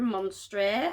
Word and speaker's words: Monstre: I was like, is it monster, monster, monstre? I don't know. Apparently it's pronounced like you would in France, monstre.